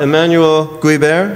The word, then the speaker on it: Emmanuel Guibert: but let me first read the BIOS uh Emanuel guber is that the correct pronunciation perfect okay I was an opair in